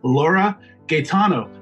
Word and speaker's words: Laura Gaetano: am and today our guest is Laura Gaetano am i pronouncing that right Laura yeah they're pronouncing it